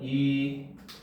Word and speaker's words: 입원료: 그 다음 입원료 같은 경우도 발음하면 이원뇨 이렇게 소리가 나고 구근류 같은 경우도 구근류 구근류가 뭐니?